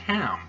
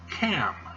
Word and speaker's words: Ham: ham is not pronounced ham that is a miss translate or mispronunciation of the hebrew the hebrew is the cat so ham is actually cam cam and guess what